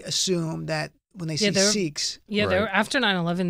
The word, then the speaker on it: Sikh: Because we were debating, is it pronounced Sikh or Sikh? Sikh. Okay, right. He taught me. It's Sikh.